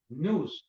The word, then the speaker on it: nous: Lord of the Bible, it says nous, N-U-S. But the way how they spell it for the pronunciation, so you know how to pronounce it, it's N-O-O-S, right?